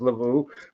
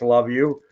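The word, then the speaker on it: Luvu: just going to say it's probably not pronounced Lau but it's love you Bobby Wagner is a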